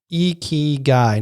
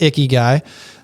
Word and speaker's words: ikigai: japanese philosophy of ikigai pronounced iki guy not icky guy i heard a youtuber